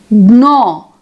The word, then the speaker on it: gnaw: Then gnaw, sign, we have GN. Then knife, no, we have KN. Then pneumonia, pneumatic, we have PN. So orthographically we write PN, KN, GN, but we pronounce as single N, that is another sound.